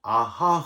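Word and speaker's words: אהה: 너무나 겁을 먹었던지 아 히브리어로 아하 그라고 발음을 하는데요 한글로 번역하는 분들이 그냥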